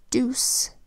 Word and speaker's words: deuce: Deuce is spelled with a D that says D, then the EU phonogram that says oo, then a C that says S, and a silent final E that is telling the